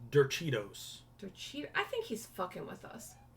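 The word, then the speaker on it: derechos: No, I looked it up and it said ye, like Y-E-H, like yeah.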